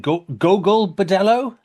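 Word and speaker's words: Gogol Bordello: Go Bedello.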